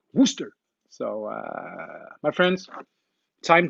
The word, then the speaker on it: Worcester: got too carried away when i tried to pronounce wooster so uh my friends time to get hammered